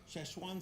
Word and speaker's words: Szechuan: Szechuan sauce?